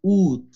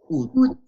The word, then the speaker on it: août: Agosto es août. Août. Sí se pronuncia la T. Août. Sí, es una excepción.